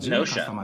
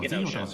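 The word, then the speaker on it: Gnosia: I think it's just Nosha. Like I think the G is silent. Well, it had katakana below it, and it was definitely a hard G in the kana.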